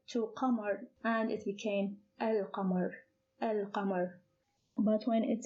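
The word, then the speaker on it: القمر: only added l to command and it became el camer el hammer but when it is attached to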